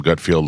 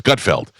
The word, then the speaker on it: Gutfeld: And he calls him Gutfield like you do. It's Gutfeld.